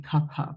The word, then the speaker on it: Kapha: these words, Vata, Pitta, Kapha. The technically correct way to say it would be Kapha because it's Sanskrit and there's no f sound in Sanskrit. The f sound crept in from Persian into Hindi, and so we say